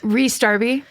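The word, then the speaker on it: Rhys Darby: Ree Ree Darby.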